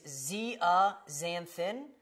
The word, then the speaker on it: zeaxanthin: It is zeaxanthin. It's up there phonetically for you because I know that it's a tough one to look at and be able to say.